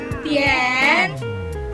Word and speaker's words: 点: Hansa yang kita pilih adalah Tian. Dan cara bacanya adalah Tian, Tian.